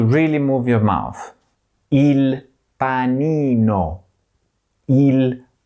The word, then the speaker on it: panino: Il panino. Il panino. Il telefono. The telephone. Here too, you have to move your mouth a lot. Il telefono. Telefono. the letter I is always pronounced E, as in panino, and the letter E